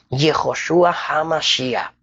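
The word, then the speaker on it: ישוע המשיח: cristus en griego y si lo vamos a pronunciar en hebreo yehoshua hamashia Dependiendo el idioma Pero sabemos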